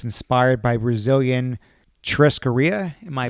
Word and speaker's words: churrascaria: On the website, you say that it's inspired by Brazilian churrascaria. Am I pronouncing that right?